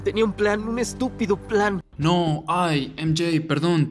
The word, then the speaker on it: estúpido: Estúpido. Again, emphasis on the U, because that's where the tilde is.